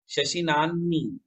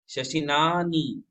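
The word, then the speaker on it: शशिनाह्नि: शशिनानी, इसमें ह का उच्चारण पहले, न का उच्चारण बाद में होता है। शशिनानी, शशिनानी, है ना।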